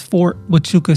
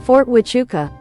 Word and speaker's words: Fort Huachuca: But last time she was talking about this Fort Huachuca situation.